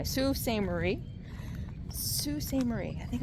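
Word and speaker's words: Sault Ste. Marie: Sue St. Marie.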